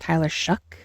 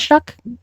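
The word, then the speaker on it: Tyler Shough: Yeah, on the Saints side of things, they have decided to go with, I believe his name is pronounced Tyler Shuck.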